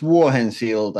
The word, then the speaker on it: Vuohensilta: last name I practiced it but I can't pronounce it yeah it's War henfield it's it's pretty hard but you you manage